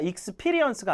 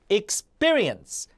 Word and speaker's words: experience: 자, 이런 것도 P 발음이 단어 안에 들어가면 뿌거든요. 그러니까 experience가 아니라 experience 이렇게 읽어야 되고, 이런 건 강세를 많이 틀려요.